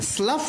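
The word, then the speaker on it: Slough: अगला जो प्लेस है एस एल ओ यू जी एच इसका उच्चारण कोई बता सकता है मुझे बिना देखे क्या होता है सल होगा क्या yes very good स्लफ स्लफ of disp last में जीच है लेकिन प्रसन में फ आता है लास्ट में स्लफ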